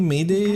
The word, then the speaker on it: Medeimos: Medeimos. クレムノスはあなたの故郷。そしてあなたの一族。 I guess maybe Mayday is a better way to say his name.